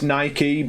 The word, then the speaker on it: naive: that's just an eager did you just pronounce Naik with one syllable ya know it's naive but I've always you